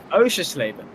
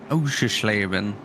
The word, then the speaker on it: Oschersleben: How do you say it? Oschersleben. It's German. Oschersleben. Oschersleben.